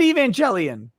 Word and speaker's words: Evangelion: Andrew Haskins says, Evangelion like televangelist. Say it right, Nick. I said Evangelion.